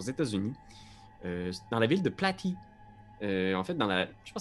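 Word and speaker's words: Platte: la région administrative de Platy, parce qu'on est vraiment très loin. Je pense que ça se dit plate. Pas mal ça se dit plate. Je vais le prononcer Platy, mais merci pour la proposition.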